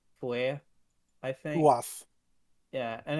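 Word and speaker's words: Fuath: on it, Yeah, but the Fua part was definitely yeah, strongly pronounced, and it was like the TH was like a little like a lighter TH than is used in common English.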